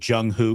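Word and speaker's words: Jung Hoo: getting ready for your jungho crew t-shirt did you get that email the Jung who crew no what is it so who rhymes with crew I don't know if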